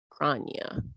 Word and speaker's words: Grania: So, rhymes with Tanya. Grania.